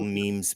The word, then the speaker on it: meme: don't feel bad Sal I used to call Memes memes trimming Mimi I made I said that to somebody I was like check out the Mimi and they're like what what it's a meme I was like MiMi